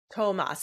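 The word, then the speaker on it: Tomáš: hurdle how do we say his name Tomas Tomas that's what I thought okay Noah hannahan and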